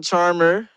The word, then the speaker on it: Charmherr: I'm Charmherr. You can how you spell that? That's CHARMHERR. It's really, it sounds like Charmherr, but it's really just Charmherr.